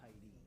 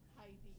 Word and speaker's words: Heid: Heidi. Yeah. So like a little girl's name. So the E is not pronounced. It's H E I D. When you're pronouncing it, it's two syllables.